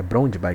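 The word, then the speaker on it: Brøndby: É Brondby que se pronuncia.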